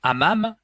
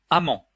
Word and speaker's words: hammam: turcs les bains turcs eux qu'on appelle des hammams sont proposés sont prononcés par la synthèse vocale amant ce qui veut pas dire tout à fait la même chose vous devrez donc utiliser